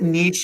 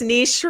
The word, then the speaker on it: niche: I feel like niche is a hard word to say. I'm Canadian, so it's niche for me, but I know it's niche. And niche rhymes with rich.